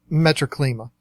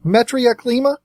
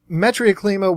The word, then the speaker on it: Metriaclima: Some of the more popular ones, here's another one that might get mispronounced. I've always called it Metroclima, which would be your zebras, things like that. I believe it's actually pronounced Metriaclima, but I've always said Metroclima.